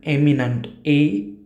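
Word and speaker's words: eminent: dash dash film maker अन एमिनंट आणि अन इमिनंट उच्चारांच्यात पण फरक आहे उच्चार समजून घ्या Vimal Roy वॉज अन एमिनंट एमिनंट आणि इमिनंट तर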